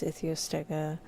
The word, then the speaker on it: Ichthyostega: We just looked at the pronunciation guide for this guy. Ichthyostega. Oh, Ichthyostega. So that's Ichthyostega.